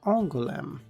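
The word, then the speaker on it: Angoulême: It is pronounced as You may pronounce You may call me Angulm.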